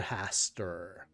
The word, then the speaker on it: Hastur: Hastur.